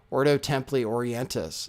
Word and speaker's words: Ordo Templi Orientis: was initiated to oto ordo templi orientas is that did i even say it right we're going to learn we're going to learn about that today too yeah i got it right ordo templi orientis so and i said oh